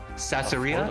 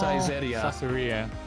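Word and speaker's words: Saizeriya: Satsuria? affordable place. Satsuria? Oh, Oh, Caesarea. Caesarea. Thank you. I butchered the name.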